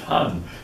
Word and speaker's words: Han: was replaced by the Han Dynasty actually pronounced Han and the uh the